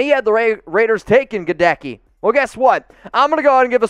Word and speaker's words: Goedeke: And I already forget how to pronounce his name. Goedeke, yeah.